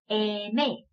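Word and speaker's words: eme: 그 다음은 에메. 에메. 미음 소리 가지고 갑니다.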